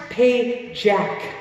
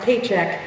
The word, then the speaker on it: Pajak: it so it's pronounced pay Jack not check not paycheck paycheck alright so here's the Pajak step you're gonna do